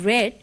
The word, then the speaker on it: read: Well, remember, though we pronounce it as read, we write R-E-A-D, the same spellings as the present form of the verb.